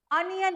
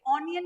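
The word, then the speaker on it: onion: sound बहुत important है अनियन है ये ओनियन नहीं बोलना है अनियन साउंड कैसा ये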